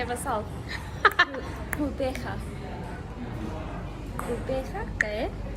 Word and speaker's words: Gqeberha: Gqeberha, and I mean, I feel like they do use clicks like Q's and stuff.